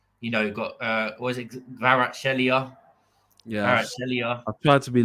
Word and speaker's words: Kvaratskhelia: It's Kvaratskhelia. Oh, that's it. Yeah. I say Kvaratskhelia because I can't do the kv at the start.